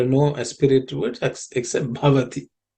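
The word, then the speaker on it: भवति: There are no aspirated words except bhavati. The bha is the fourth letter in the pa varga, so it has to be aspirated with some extra air.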